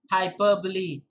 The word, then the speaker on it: hyperbole: Hyperbole is the right pronunciation.